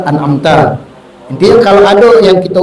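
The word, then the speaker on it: أَنْعَمْتَ: Mengganti di sini diantaranya dhammanya kalimat an'amtu atau an'amti, yang benar kan an'amta.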